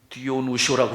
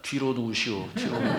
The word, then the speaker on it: 디오누시오: 저는 이 발음이 잘 안 돼가지고 자꾸 읽을 때마다 뒤로 누우시오 이렇게 발음이 돼가지고 이러면 안 되는데 디오누시오 그러는데 자꾸 왜 뒤로 누우시오.